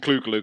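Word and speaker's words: Clu Gulager: up yes uh to see we mentioned clue gluger didn't we he's always yeah now you pronounced it right yes that's it Robin rer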